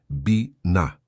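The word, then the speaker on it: בינה: A palavra é biná. Pronuncia-se bina.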